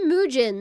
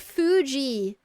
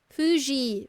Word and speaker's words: Fuji: tried to see Mount Fuji from the Shinkansen, but it was really cloudy, so we could not see uh Mount Fu Mu. Why did I say Mujin? No, Mount Fuji. Fuji.